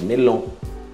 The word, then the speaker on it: melon: Melon. Melon. Cuidado, isso não é o tio no final, é O-N. Melon.